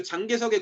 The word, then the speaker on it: 장개석: 그러니까 중국말로 하면 장제스고 한국 발음으로 하면 장개석이에요.